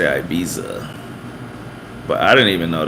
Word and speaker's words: Ibiza: then I realized that because Spaniards say like Ibiza and because British people say th as an F they would take Ibiza and turn it into ibifa and they just all say it like that and it's normal